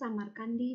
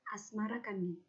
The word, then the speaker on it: Samarqandi: Jawi versi meinsma menyebutkan asmarakandi mengikuti pengucapan lidah Jawa terhadap khas samarqandi berubah menjadi asmarakandi Maulana Malik Ibrahim kadang